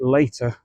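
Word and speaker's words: Latah: I think you pronounce it Later, L-A-T-A-H, which is kind of ironic because this is an early variety called Later.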